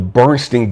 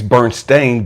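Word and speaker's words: Berenstain: remember stay with me the bernstein bears really was never bernstein bears it was always burnt stained bears but we remembered it as bernstein you stay with me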